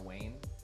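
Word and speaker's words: Gwayne: I believe it's pronounced Gwaine or Wayne Hightower.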